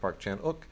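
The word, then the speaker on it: Park Chan-wook: uh Park Chan spelled Park Chan W but pronounced Park chanuk uh is always worth checking out so uh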